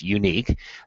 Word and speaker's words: UNYQ: this event is called unique it's spelled It's Kind of a Funny spelling here it's unyq pronounced unique 3D printed prosthetic covers